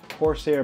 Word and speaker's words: Corsair: say that Corsair that's how you say it Corsair memory um I want to say Conair but